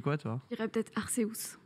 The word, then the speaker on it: Arceus: J'ai toujours dit Deus, Arceus. Dans le trailer japonais, il dit Arceus. Et j'ai eu bien le seum. Ça s'écrit comme ça en japonais, mais après, je pense que chacun le prononce un peu comme il le voit.